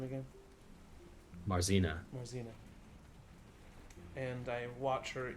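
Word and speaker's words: Marzena: in and I look at how do you pronounce her name again marzina marzina and I watch her eat for a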